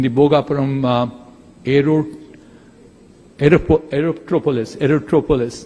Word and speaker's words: Aerotropolis: Bogaparum aero aerop Aerotropolis erotropolis that's how it's technically pronounced and what can we